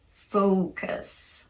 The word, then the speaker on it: focus: but so and low the lips are tightly rounded at the end of this long o sound this is the vowel sound you need in the first syllable of focus another factor is that the vowel in the second syllable is going to be really short in comparison to that first vowel with almost no mouth movement it's the schwa vowel so it's not us